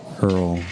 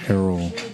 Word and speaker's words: Errol: pronounce his name properly I always say Earl but it's ARL Dave Drake how you